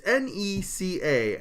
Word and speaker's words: NECA: say this toy company it's not Nick is it Nika Nika I'm gonna say nook until someone corrects me all right it's NECA and I've never said